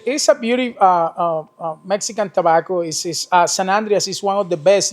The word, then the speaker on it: San Andrés: So for all you cigar smokers out there that has been mispronouncing it, it's San Andrés.